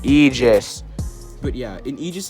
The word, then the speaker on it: Aegis: But like it's pronounced Aegis.